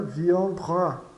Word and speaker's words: viendra: we vamos em frente as vogais e as vogais no final das palavras são sempre carregadas da situação Ou seja é a sílaba mais forte da da palavra exceto quando se tratar de e sem assento no final então táxi fica táxi quilo fica quilo viendra fica viandra viandra kilou taxi vamos lá